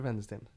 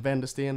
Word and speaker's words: Wendesten: be like Christopher and vendor stand it's it's a w but in Sweden we don't pronounce the W like W we don't sell me